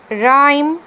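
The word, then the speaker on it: rhyme: ਮੈਂ ਪ੍ਰੋਨਾਊਂਸ ਨਹੀਂ ਕੀਤੀ, ਇਹਨੂੰ ਰ ਨਹੀਂ ਪੜ੍ਹਿਆ, ਇਹਨੂੰ ਰਾਈਮ, ਰਿਦਮ, ਰਿਨੋਰਸਿਸ, and this one rheumatic।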